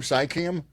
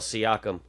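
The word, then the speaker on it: Siakam: Sikam. Am I close? No. No. Pascal Seakum. Seakum.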